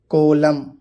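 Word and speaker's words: column: एन, जब एम के बाद एन आता है तो वो एन भी साइलेंट होता है। कोलम, ऑटम, पतझड़ मौसम को बोलते हैं।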